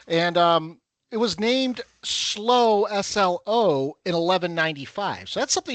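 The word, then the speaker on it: Slough: So hello slow UK. It's it's spelled like we would think sloth. S l u s l o u gf. Hey s l o u g h.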